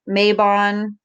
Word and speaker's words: Mabon: I say Mabon or Mabon. I mean, I don't know. I'm pretty sure you can say it both ways.